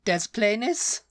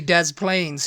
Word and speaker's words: Des Plaines: de planes de plane it's probably Des plis illino but it's really Dez Plains who um presents the